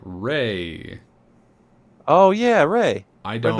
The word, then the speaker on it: Raye: The person who covered it was called Ray. Oh yeah, Ray. I Friend of the don't. show, Ray. Not that Ray. It's spelled Raye, and I am not familiar with her at all.